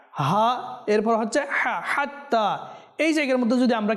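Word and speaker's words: حتى: যেন না হয় সালামুন হাত্তা যেন সুস্পষ্ট হয় হাত্তা মিম জবর মাতলাল ফাজর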